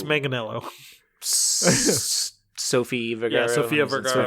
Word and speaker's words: Manganiello: Mangello? Is that how you say it? No, it's Manganiello.